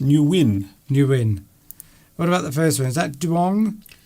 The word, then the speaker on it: Nguyen: It's actually pronounced Nguyen.